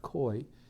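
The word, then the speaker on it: খই: from uh fine patty actually koi is pronounced koi is made from um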